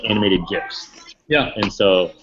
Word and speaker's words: GIF: They're GIFs, and I guess it's pronounced GIF like peanut butter.